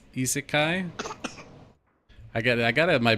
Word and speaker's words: isekai: Isaki is isekai.